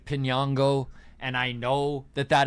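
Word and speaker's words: Piñango: And I do know that it's Pinango. And I know that that is how I should be pronouncing it.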